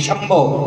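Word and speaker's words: शंभव: संभव नहीं, संभव, यहां श का उच्चारण है।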